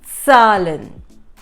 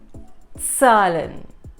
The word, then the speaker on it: Zahlen: This is, yes, Zahlen. Zahlen. So every time you read a word starting with the letter Z, the trick to remember it is Vatsala.